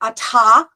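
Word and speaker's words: אתה: who knows but anyway we don't pronounce the hay at the end anymore okay the next one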